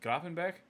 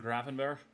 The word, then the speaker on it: Gravenberch: Is it Grafenbeck? I always feel like I'm gonna mispronounce the shit out of people's names and sound like a dumbass. Yeah, Berg. That's what it is. Ryan Grafenberg.